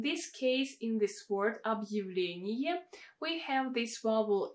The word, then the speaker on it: объявление: So in this word we have a vowel Я coming after a hard sign, and normally it should be pronounced as a combination of two sounds Y and A. And as you can see, I wrote it as Y, E. Why is it like this?